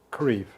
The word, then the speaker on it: Creef: is your name my name is creve can you spell it a v e r y m a